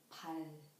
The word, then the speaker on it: 발: When Lyra becomes the final consonant, the sound of the syllable ends with L sound. For example, 발, 발.